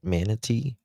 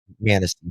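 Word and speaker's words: Manistee: uh wooded areas and uh how do you pronounce this? Uh is it Manatee? Manasty, sorry.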